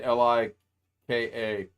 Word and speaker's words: Leica: Leica. Leica? He's saying Lika. Okay. I would pronounce that Luca.